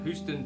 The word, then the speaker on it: Houston: Houston, Texas is pronounced like the name Hugh.